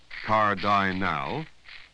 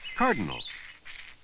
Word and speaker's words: cardinal: You wouldn't say cardinal, you'd say cardinal. The last two vowels are unstressed, so they each have the sound.